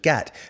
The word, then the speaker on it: git: called him the aforementioned get because this is how they pronounce git in liverpool closer to the original way of saying it also get rhymes with cigarette better than git i